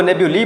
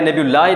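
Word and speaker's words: nebulae: तो इसको नेब्यूली पढ़ा जाता है, नेब्यूलाई नहीं पढ़ा जाता. नेब्यूलाई is incorrect and नेब्यूली is correct pronunciation of the word.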